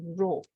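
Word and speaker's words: rho: you look at book density is this symbol pronounced as row let me make it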